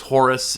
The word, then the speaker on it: Horus: pronounce his name Horus they pronounce it hor h o r Horus is the Greek version because later on the Greeks came in and began ruling Egypt and they added the US on the end but Horus is is